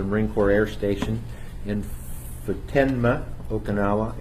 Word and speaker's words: Futenma: Corps Air Station in Futenma, Okinawa. It originally was called Fatima, and our hosts asked us to pronounce it differently.